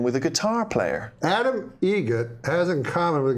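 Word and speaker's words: Eget: It's a joke, an Adam Egret joke. How do you say the name? Adam Egret. Egret. Spelt differently. Like the bird. That's Egret.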